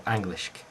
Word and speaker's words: Anglisc: They are Englischk or Anglischk.